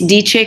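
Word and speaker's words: Deche: my cosmetic it's caused it's called dichi and that's d e c h e Accent on the last e it's DJ Cosmetics it's gonna be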